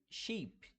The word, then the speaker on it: sheep: e e é que o i do Sheep de ovelha ele é mais longo então Sheep Em contrapartida nós